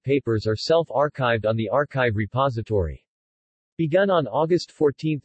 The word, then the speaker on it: arXiv: archive pronounced archive is a repository of